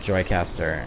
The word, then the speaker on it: Joicaster: up in the top right is how you spell it but there's a YouTube channel called Joy caster and it's actually the service it lets me